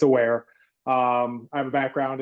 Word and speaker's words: AWRE: I know it's AWRE and seems like everyone is wonderers how to pronounce it. It's aware.